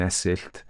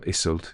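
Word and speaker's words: Iseult: love triangle issue of Tristan and esil um or Isel if you prefer or is older if you want to go German um but you know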